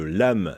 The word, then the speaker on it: LAMHE: êtes le président de l'amm des mauges l'âme on peut l'entendre comme une lame justement vous allez voir c'est affreux assez intéressant par la suite mais l'âme s'écrit avec un h votre lame des mauges